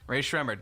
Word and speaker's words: Rae Sremmurd: this is the band's telling you how to pronounce their name they have a video that I toriel I watched on YouTube Rae sremmurd okay now this is how they end the